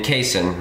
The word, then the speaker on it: casein: a slow digesting protein in casin or you may say cassin there's a lot of different ways to pronounce it but I think you